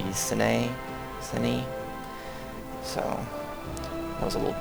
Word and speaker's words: Sinj: and fabricate claims in Sinj, or Cine. Somebody told me that J's, or that's one thing that someone said, is J's are pronounced like Y's. So I guess that would be Cine.